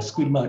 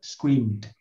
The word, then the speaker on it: screamed: Nào, chữ này không phải là screamer, đọc là scream sau đấy thêm d thôi. Screamed.